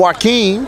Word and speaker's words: Joakim: I know, but he said the J is a W.